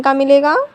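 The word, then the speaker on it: comb: B silent तब होता है जब बी से पहले एम आता है तो बी साइलेंट होता है।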